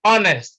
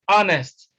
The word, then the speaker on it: honest: c is honest again h is silent in honest is not honest it is honest then in d h